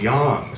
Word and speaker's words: Yang: Yang and it's not Yang it's always a soft a you know what I'm saying it's Yang so even it just